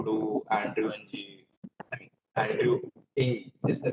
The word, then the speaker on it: Andrew Ng: I mean, Andrew Ng is the correct pronunciation.